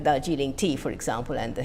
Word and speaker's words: Darjeeling: When I was working on Bengali intonation with Bruce Hayes he kept saying "But the stress is on the penultimate syllable". I said "No, stress is on the first syllable". "But that's what you're saying!" I said "No, I'm saying that Darjeeling, not Darjeeling.